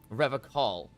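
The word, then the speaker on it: Revachol: Revacol. Please. His gaze shifts to the pile of soggy logs at his He feet. pronounces Revacol with a hard K, unlike other people.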